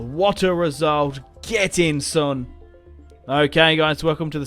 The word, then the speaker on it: Son: It's Heung-min Son. I've always said that, but I think it's technically Sun Heung-min. It's however the Koreans pronounce their last name. What? It's Sun.